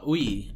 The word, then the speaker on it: Yui: No, not Mio's, Yui. Yui's sister, yeah, Ui. Yeah. Yui and Ui. Yui. Yui and Ui. Yui, for context, is spelled Y-U-I. Ui is spelled U-I.